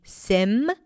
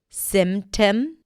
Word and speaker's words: symptom: So you can say symptom. Symptom or symptom. Symptom. You can pop the P or not pop the P. Both are correct.